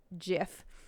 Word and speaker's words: Jif: peanut butter claim jif as their own it's pronounced jif registered trademark symbol referring to the peanut butter